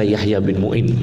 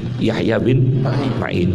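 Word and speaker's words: Yahya ibn Ma'in: dan Yahya Bin maain jangan baca Yahya Bin Muin Yahya Bin Main seperti asmui itu jangan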